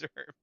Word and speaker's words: Zerp: It's Zerp. Did you get 0 Zerp, or you just Zerp now? You probably can't go back, you just Zerp. Yeah, I'm just Zerp, unfortunately. It rhymes with burp.